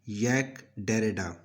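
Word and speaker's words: Jacques Derrida: तो इसका जवाब है यैक डेरेडा, यानी इसकी एग्जैक्ट प्रोनाउंसिएशन है यैक डेरेडा।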